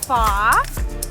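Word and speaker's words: phở: l u t but the right way to pronounce it would be almost like with a question mark far however the Vietnamese people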